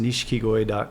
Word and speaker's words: nishikigoi: website it's giving outside its pronounced nishikigoi calm it's ni Shi K i GOI comm American people say nishikigoi yeah yeah so I've